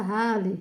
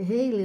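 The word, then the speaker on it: Halley: então o Raley, né, o pessoal fala do cometa Raley, é Heiley, né, também se pronuncia em inglês, que foi pr para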